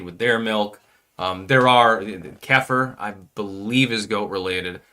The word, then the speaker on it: kefir: There are kefir, I believe is goat related. By the way, fucking delicious. So there are ways for you to get your dairy. I had kefir, or kefir, it's sometimes pronounced, just a couple days ago.